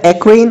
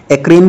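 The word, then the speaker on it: eccrine: अब दोस्तों ये एक्रीन जो है इसे आप तीन तरह से प्रोनाउंस कर सकते हैं, ये ग्लैंड का नाम है, एक्रीन भी बोल सकते हैं आप, एक्राइन भी बोल सकते हैं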